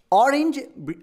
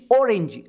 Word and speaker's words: orange: So British English ಆರೆಂಜ್, America English ಓರೆಂಜ್, ಹೀಗೆ ಉಚ್ಚಾರಣೆ ಬರುತ್ತೆ.